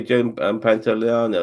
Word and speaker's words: Joe Pantoliano: Yeah, as I say, Joe Pantoliano.